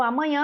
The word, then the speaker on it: amanhã: deverá amanhã deverá amanhã a gente percebe com o som que a sílaba tônica no amanhã amanhã e que a sílaba